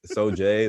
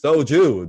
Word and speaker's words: soju: he like the soju he kept mispronouncing it every time like you know so jay so jews and i was like it's soju daniel i know you're watching